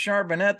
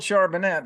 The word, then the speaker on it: Charbonnet: week to week he should be back uh charbonet I'm told it's pronounced charbonnet the rookie carbonne well I've been told charbonnet I thought I was saying Chardonnay and I